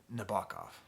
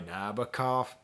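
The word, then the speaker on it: Nabokov: then we get to the song nabakov and nabakov right that's how you're supposed to say it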